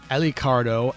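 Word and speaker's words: Alucard: The first of which is Genya Iricado, or Alicardo as it would be pronounced by Japanese speakers, mostly pronouncing R's sort of as L's.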